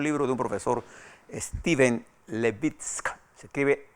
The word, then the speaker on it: Levitsky: este es un libro de un profesor steven levitsky se escribe l a v dsk se llama house